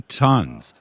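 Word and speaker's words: Tuns: And now we're walking over to a place called the 3 Tons, possibly the oldest place in town. Tons. You sure? Ton, yeah. You sure it's pronounced ton?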